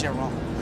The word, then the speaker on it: Chiron: He asked one of the PR people, like, how do you properly pronounce it? I want to make sure I say it right. And he said, is it Chiron. Chiron? And the woman was like, ugh. She was scandalized. This French lady was just scandalized. Oh, no. It's Chiron.